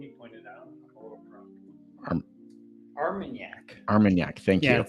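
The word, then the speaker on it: Armagnac: point out AR armanac armanac thank you it's like CAC but with an arm yes yes and so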